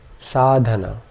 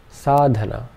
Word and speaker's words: sadhana: da na so this this word would be pronounced sadana sadana sadana sadana and finally sadhana sadhana the word sadhana in Sanskrit means spiritual practices